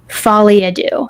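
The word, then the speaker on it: folie à deux: Folly adoo. That's how you say it. Fadoo.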